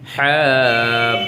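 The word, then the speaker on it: ح: হ্যাঁটা হলকের মধ্যখান থেকে প্রেসার দিবেন, এইভাবে হ্যাঁ, এখানে একটু প্রেসার দিবেন। যদি এখানে প্রেসার ক্রিয়েট করেন তাহলে আপনার উচ্চারণটা সঠিক হবে।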